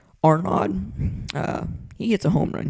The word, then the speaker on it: Arnaud: I think it's Arnaud. It's like a D and then the little comma thing. No. What is it called? Apostrophe. Arnaud.